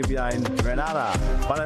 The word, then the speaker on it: Grenada: But, I heard in English it's called Grenada. Say it right. Grenada. Say it right. It's Grenada. That's right. Grenada. There we go. Say it right. It's Grenada. It's not Granada.